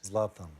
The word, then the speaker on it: Zlatan: You want to see Zlatan, and Zlatan is the correct pronunciation, yes? Zlatan.